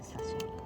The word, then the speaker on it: sashimi: got me into the sashimi or sashimi how is that but sashimi is the right way to say yeah yeah you're the